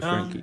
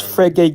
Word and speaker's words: Frege: You can, Frankie Geach can talk. Okay. Yeah. Go ahead. How do I pronounce it? Is Yeah, it? it's Frege Geach.